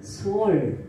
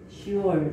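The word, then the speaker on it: שאול: 그럼 히브리어로 음부는 뭐라고 되어 있냐면은 수월 이렇게 슈얼, 수월 이렇게 발음을 합니다.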